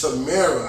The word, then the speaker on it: Tamara: And apparently it's Tamara.